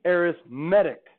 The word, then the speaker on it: arithmetic: we call this an arithmetic sequence. Or if you mispronounce it, arithmetic sequence. When it's an adjective, it's arithmetic. You can put a little accent there, like it's in Mexico.